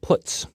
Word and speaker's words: puts: are the most popular they are pronounced print F put car and puts each function is designed to